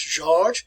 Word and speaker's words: Georg: But his name, work on your pronunciation, is George. See, if we had an E on the end of George, it would be like Georgia. So it's George Wilhelm Hegel.